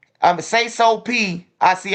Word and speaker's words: Sayso P: man hey once again peso P um say so P I see I'm still saying his name wrong say so p is the one who got killed not peso peso peso peso still alive